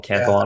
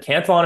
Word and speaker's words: Cantillon: And the Cantillon effect, I've heard it pronounced many different ways. I call it the Cantillon effect. Was it French, the guy, Cantillon? Yeah. So maybe I need to throw an accent on there.